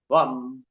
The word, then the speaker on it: वम: back state, naval से 3.5 उंगल नीचे, जल तत्व, वम का उच्चारण करेंगे, VAM, वम, वम, वम, वम, वम, वम, वम, वम, वम,